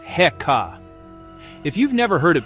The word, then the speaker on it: Heka: The word is heeka, pronounced heekkah.